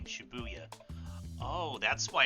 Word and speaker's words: Shibuya: of shibuyu station while the numbers four to eight in Japanese can be pronounced the same as the syllables for the name Shibuya oh that's why it's